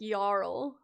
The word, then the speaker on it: jarl: like a role what it's a Nordic word pronounced like yarl okay for the sake